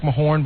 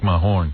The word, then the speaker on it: Mahorn: Rick Mahorn, but it's spelled weird, like it's Majerne. Yeah, Rick Mahorn.